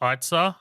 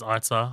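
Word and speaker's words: Eiza: Isa Gonzalez? I saw it pronounced Itza. I looked up an interview, and, like, the host announcer is Itza.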